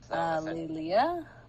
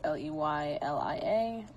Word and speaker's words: Leylia: We have Liliana, Marlene, Ed, Ragnas, Edward, Andromeda, Lorenzo, Z, Lelia. I don't know if that's how you say it. It's Leylia.